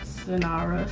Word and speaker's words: Sinara: out the way now my name is sanara that's how you pronounce it it's not anything else